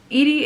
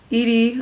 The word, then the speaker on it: Edie: Soon, Edie, or Eddie, I think it's Edie? I'm pretty sure, I felt like it should be pronounced Edie.